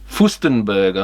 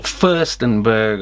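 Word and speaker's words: Fürstenberg: Furstenberg, I think it is. Or Furstenberg, I guess those little accent things there.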